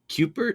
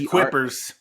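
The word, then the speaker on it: Kuipers: pronounce this Farm's name Cooper Coopers k-u-i-p it's quippers quippers apple cider donuts so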